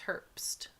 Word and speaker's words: Herbst: No, it's Herbst.